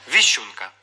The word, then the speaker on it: віщунка: цей варіант мінус б віщунка у слові сім букв буква ш позначає завжди два звуки шч всього звуків вісім йоржик